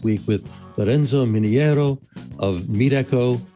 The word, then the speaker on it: Meetecho: with lorenzo miniero of meat echo which is pronounced other ways as well but it says meet and echo together so you can think